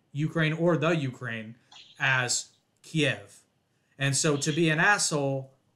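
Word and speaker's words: Kyiv: Russia's invasion of Ukraine their capital city was always pronounced Kiev whether it be in books whether it be on television during the news all that and then overnight all these snobby-ass news anchors including Anderson Cooper probably most guilty all of a sudden start pronouncing it Kiev now I understand that Kiev is how you pronounce it in Ukrainian and it would be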